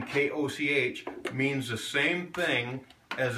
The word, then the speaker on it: Koch: So all these names, Koch, Couch, are incorrect. Correct. Unless they go back before 600 AD. In German, it's pronounced Koch. You got to put the phlegm on the end of it.